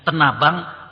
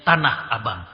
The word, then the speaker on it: Tanah Abang: Kalau kita nganter istri belanja, kadang disebutnya Tenabang, kadang disebutnya Tanah Abang. Ya. Tapi tempatnya itu-itu juga. Turmuz adalah nama suatu tempat di Palestina.